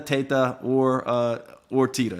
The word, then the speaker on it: Teta: mispronouncing your name yeah because the correct pronunciation actually is Teta because I am Italian but for some reason uh my parents and when we came over or changed it to Tita so I answered to Teta Teta or uh or